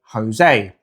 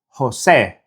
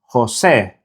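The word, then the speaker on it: José: So the correct pronunciation of Jose is Jose. Jose. The closest equivalent in English is the E sound in the word bed, but it's not exactly the same. The Spanish E is very short and sharp.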